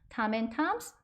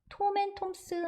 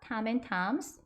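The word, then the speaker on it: Tom N Toms: 탐 앤 탐스, 톰 앤 톰스 아닙니다. 탐 앤 탐스 발음 한번 해보실까요?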